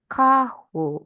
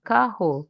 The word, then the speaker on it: carro: So, if I want to say the word for car is carho, okay? It's carho.